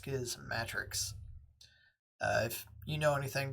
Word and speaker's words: Schismatrix: And I and I say Schismatrix because in the introduction to Schismatrix Plus, he says the pronunciation is similar to Schismatics. So, it's not Schismatrix. I believe it's pronounced skiism matrix.